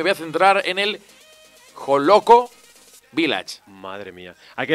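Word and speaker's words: Hollókő: ¿Está bien pronunciado? ¿Joloco Village? Claro que sí, está Joloco.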